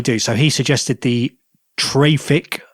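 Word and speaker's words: Traefik: So he suggested the Trafic. It's pronounced traffic.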